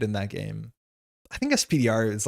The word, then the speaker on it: SP//dr: the official pronunciation of SPDR and ended up finding it briefly mentioned in Marvel Rivals. Penny calls it spider. Oh, yeah. I guess she does say it in that game. I think SPDR is like just the language we expect.